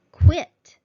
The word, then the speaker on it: quit: Now, quit. Quit. Q-U-I-T with nothing after the T at the end. So it is a short I sound.